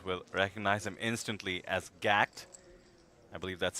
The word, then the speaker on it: GACKT: entire Japanese world will recognize him instantly as gact I believe that's spelled g-a-c-k-t in case you're not familiar with